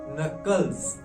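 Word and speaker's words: knuckles: हम नकल्स कहते हैं की आपका यहां पर साइलेंट है नकल्स नकल्स नकल्स कहते हैं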